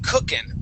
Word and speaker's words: cooking: say uh a cookin i do not pronounce the g at the end and it's more of an in sound instead of cooking it's